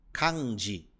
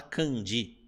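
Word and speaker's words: 漢字: algumas palavras né Candi muita gente fala Candi ó Candi e a tendência ao falar em português é que isso aconteça só que em japonês a sílaba k ela não pode deixar de ser k independente do que vem depois então Cand Cand ok e por fim essa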